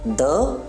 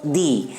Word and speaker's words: the: least rule number three definite article the will be pronounced as either the or the depending on the sound of the word following it if the word begins